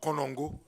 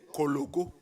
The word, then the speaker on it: Kologo: No, this is Kologo. Kologo. Not Konongo. Kologo. This is the one that Chairman should be pronouncing. Kologo.